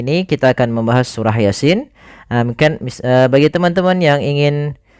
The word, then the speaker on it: Yasin: lafal bacaan Yasin ini yang kita panjangkan adalah Sin ya hati-hati jangan sampai malam mengganti kebalik misalnya Yasin ada yang sering terjadi membacanya adalah malahanya yang dipanjangkan bukan sinnya padahal yang harus dipanjangkan pada ayat ini adalah huruf sinnya yang di mana ya